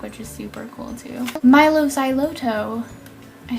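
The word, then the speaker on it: Mylo Xyloto: Milo Xyloto.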